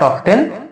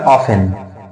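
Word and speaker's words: often: নো নো নো নো এটা নট অবটেন এটা হবে অফেন এটা টলক টি এল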